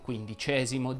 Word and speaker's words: quindicesimo: e alcune parole sdrucciole i numerali che terminano in esimo richiedono sempre una pronuncia aperta ecco qualche esempio si dice xiv quindicesimo xvii come la puntata